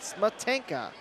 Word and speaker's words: Smetanka: Smetanka is how you say that, Smetanka.